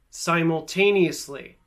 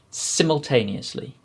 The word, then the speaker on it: simultaneously: i'll repeat them in british english dynasty privacy simultaneously dynasty privacy simultaneously hopefully you could clearly hear the difference between